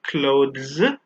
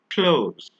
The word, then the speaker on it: clothes: The fourth one is actually pronounced clothes. For example, the T and the H are often not pronounced individually. So we don't say clothes, we say clothes.